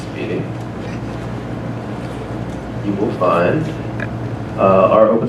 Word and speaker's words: SPDY: for mod speed yeah spdy pronounced speeding you will find our